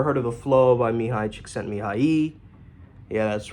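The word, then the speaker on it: Mihaly Csikszentmihalyi: If you ever heard of the flow by Mihai Csikszentmihalyi. Yeah, that's right. One of the few coaches who can actually pronounce his name.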